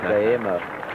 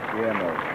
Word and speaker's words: Guillermo: Angus Bragg, and from Baldwin, And he worked it out how I could pronounce Guillermo correctly. And the first time I tried it, I stumbled over it. Guillermo. Guillermo. Guillermo Vilas.